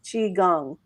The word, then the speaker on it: Qigong: g o n g if I'm not mistaking chi gong so it's all about energy so uh if